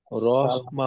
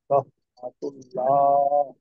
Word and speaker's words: রাহমাতুল্লাহ: হুম, রহমা হবে না, আসসালামু আলাইকুম রহমা। ওয়া রাহমাতুল্লাহ। যে এখানে হায়ের উচ্চারণটা কিন্তু আর একটু চাপ দিয়ে করতে হবে, হা এবং আইন।